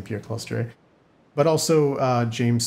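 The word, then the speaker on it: Pierre Clastres: mouse and pierre claustre i've heard some people say pierre closters i've only ever read his name prior to hearing this pronunciation so i'm used to saying peer cluster but also uh james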